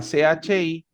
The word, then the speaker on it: chi: Quién o quiénes es qui.